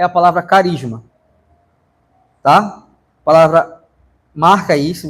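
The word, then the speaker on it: χάρισμα: Mas se fosse falar em grego, o ch tem som de k, então ficaria carisma, tá?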